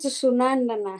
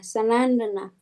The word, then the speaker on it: Sanandana: Not Sunandana, Sanandana.